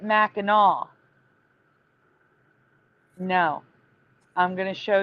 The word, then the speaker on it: Mackinac: So it is spelled Mackinac, but they pronounce it Mackinaw.